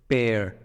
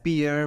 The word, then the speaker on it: pear: next fruit which is pear a lot of people read it as beer peer peer but it's not beer it is pear learn